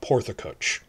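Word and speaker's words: Porth y Cych: Well, that's Porth, spelled pronounced regular. Then the Y standalone is and Y in the middle of a word like that, if it's standalone, it's U sound. So it's sort of like Porthacuch.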